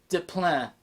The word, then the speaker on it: Des Plaines: will call the point des plaines illinois is diploma illinois as how it should be pronounced you learn something new today because it's